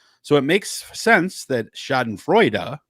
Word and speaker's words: schadenfreude: it makes sense that schadenfreude which is the actual german pronunciation uh means joy over